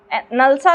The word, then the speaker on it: NALSA: Next article हमारे पास है, justice Chandrachud को नलसा का नया हेड अपॉइंट किया गया है। हमारे लिए नलसा इंपॉर्टेंट हो जाता है, नलसा या नालसा जैसे भी आप प्रोनाउंसिएट करना चाहें।